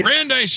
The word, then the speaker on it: Brandeis: college and grub street writers how do you pronounce that name michael and welcome the show that would be brandeis university just outside of boston i can't even